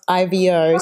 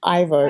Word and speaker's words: Ivo: So his name is spelled IVO, so I keep calling him Ivo instead of Ivo.